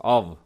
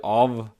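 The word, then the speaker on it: of: ইংরেজি ভাষায় একমাত্র ওয়ার্ড একটাই ওয়ার্ড যেখানে যেখানে এফ সাউন্ডটা ভ সাউন্ড এর মত উচ্চারণ হবে।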